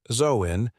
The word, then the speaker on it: Samhain: Samhain, pronounced Zoin, literally means summer's end.